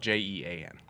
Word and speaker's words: Jean: name is Gene spelled j-e-a-n okay like the city yeah right uh and whatnot so in French it's Jean Jean it's a male name in French it can